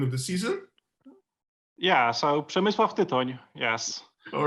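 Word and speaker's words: Przemysław Tyton: Yeah, so Przemysław Titon, yes.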